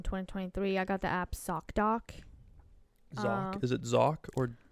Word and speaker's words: ZocDoc: Sounds like you're saying sock doc. And then when you say Z, you're like Z. ZocDoc. But you still say S though.